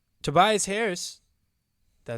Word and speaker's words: Tobias: Tobias Harris. Did I say his name right? Yeah. Yes, you did. Tobias Harris, right? Yes, Tobias.